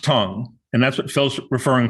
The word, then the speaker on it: Tang: you probably know um t-a-n-g which we might uh wish to pronounce as uh that tang dynasty is pronounced tong and that's what phil's